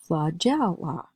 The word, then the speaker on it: flagella: that the E following the G is probably going to make a J sound. So I'm thinking it sounds like flagell right now. All I have to do is add that OA sound to pronounce the word as flagella.